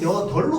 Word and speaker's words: 여덟: 비읍으로 발음하면 어떻게 돼? 여일이 될 거야. 그러면 여덜로 우린 발음한단 말이야. 맞죠?라고 안 해. 자, 그래서 얘의 원칙 발음은 얘 여덟이야. 이거 원칙이야. 원칙.